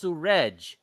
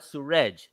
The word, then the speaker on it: Surej: I said, it's Surej, not Suraj, Surej.